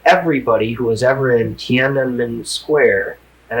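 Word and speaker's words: Tiananmen: I said, "Even if they killed everybody who was ever in Tanen Square, and I'm one of the few people that pronounce it correctly." It's hard to get that NM in Tan.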